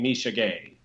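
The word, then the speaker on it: Misha Ge: like don't worry he how do you pronounce his last name Misha G right think so Eurosport insists on saying Misha gay I'm just so uh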